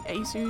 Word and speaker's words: ASUS: So I know it's actually pronounced ASUS.